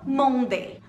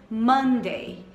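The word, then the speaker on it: Monday: tem segunda e quarta-feira segunda muitas pessoas falam mondaine não tem problema você está associando um português da acção queimas a pronúncia certa seria mandei mandei mandei além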